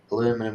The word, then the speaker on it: aluminum: Aluminum foil.